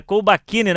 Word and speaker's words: Colbachini: Acredito que seja essa a pronúncia porque a gente tá sempre acostumado, geralmente com Kbakin, que é um pouquinho diferente, mas é Colbakini, né, professor?